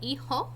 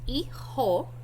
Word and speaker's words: hijo: J's are pronounced like H's in Spanish, and H's are silent. So it's pronounced hijo, not hijo, or however else you would try to pronounce it.